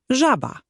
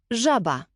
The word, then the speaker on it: żaba: Je jak angielskie ZH w słowie measure. Żaba. Żaba.